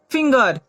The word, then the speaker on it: finger: उसी प्रकार FINGER, जी के बाद ई है लेकिन यहाँ जी की ध्वनि ग निकलेगी, तो इसे हम लोग क्या पढ़ेंगे, फिंगर।